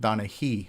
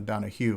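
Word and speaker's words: Donahee: and by the way his last name is pronounced donna hee like with an e not a donna hugh like phil donahue um but just um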